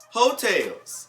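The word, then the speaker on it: Heaux Tales: a new project and it's called hotels okay it's spelled h-e-a-u-x tails what i've heard is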